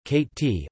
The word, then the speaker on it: Cotentin: The Cotentin Peninsula, French pronunciation, Cate-t, also known as the Cherbourg Peninsula, is a peninsula in Normandy that forms part of the northwest coast of France.